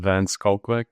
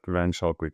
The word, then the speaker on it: Pieter van Schalkwyk: Today I am joined by Peter Van Shelwick, CEO of XMPro. Peter, I'm sure I botched your name. What's the right pronunciation? Um, Van Skullquick, but Van Shawquick is perfect as well.